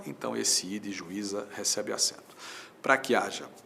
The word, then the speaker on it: juíza: se separam, mas esse I tem na própria sílaba a companhia de um Z. Então, juiz não recebe acento. Juíza é outra história.